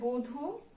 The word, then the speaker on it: বধূ: তারপরে দেখো দেয়া আছে বধূ, শুধু যদি এটাকে আমরা উচ্চারণ করি ব ব ধু, তা তো না, আমরা কি উচ্চারণ করি, বো ধু।